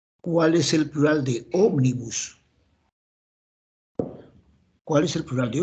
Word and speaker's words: Ómnibus: en ese en ese y Ómnibus tiene tres sílabas tiene tres sílabas y es una palabra esdrújula Entonces es como miércoles Omnibus allá Entonces será